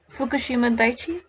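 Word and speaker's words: Fukushima Daiichi: even worse the fukushima you say it fukushima daichi okay fukushima daichi nuclear power plants cooling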